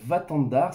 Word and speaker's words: Watandar: Et puis après une séance de sport, je suis allé à Vatandar, ça s'écrit Watandar.